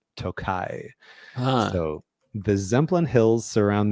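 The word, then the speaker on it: Tokaj: and I did I did look up the pronunciation of this I used to always say toai but it's t o k AJ and it is apparently pronounced toai so the zlin hills surround the toai region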